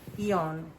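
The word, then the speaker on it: Aeon: I find out that the eon for imi and it's pronounced eon even though I have a lot of bilingual people. I son the a is silent but this one calms down the central nervous system.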